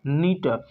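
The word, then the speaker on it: neat: एन को क्या पढ़ेंगे? न। ई और ए में से क्या पढ़ना चाहिए हमको? ई को पढ़ेंगे, ए को हम नहीं पढ़ेंगे, ए मेरा साइलेंट रहेगा। तो एन को न, ई को ई और टी को ट, क्या हो गया? नीट।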